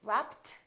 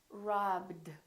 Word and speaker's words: robbed: stopped listen to this do we say rapped no this one is not a tee this one is robbed robbed so this one becomes a D so we have three